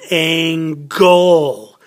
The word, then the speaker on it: angle: I'm gonna tell you a and GL e is angle that one has a hard aim goal that has a hard G sound that's an angle le